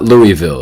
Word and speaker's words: Louisville: It is not Louisville. It's not pronounced that way. It's Louisville.